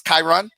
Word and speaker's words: Kyrun: and draw and I let me show him pronounced your name right cuz I've never heard it physically by voice chyron yeah yeah alright so we're gonna get the